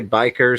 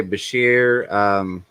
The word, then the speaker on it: bichir: Yeah, some people say biker, some people say Bashir. I call it a Bisher.